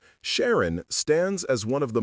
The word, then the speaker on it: Sharon: The two-syllable structure with emphasis on the first syllable, Shar-on, created a strong, confident sound that parents found appealing for their daughters.